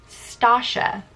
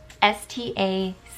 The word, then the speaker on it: Stacia: My name is pronounced Stacia. S-T-A-C-I-A. So like Tasha, but with an S.